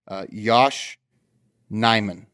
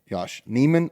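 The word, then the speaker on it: Yosh Nijman: day Yosh nyman Josh Neiman I did know that the J is not pronounced but there's two sources on the internet one says knee one says nice so Yosh if you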